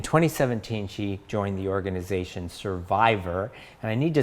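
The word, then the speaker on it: Cervivor: she joined the organization survivor and i need to spell that for you because survivor is spelled c-e-r-v-i-v-o-r and it's a combination of the word cervix and survivor so survivor is a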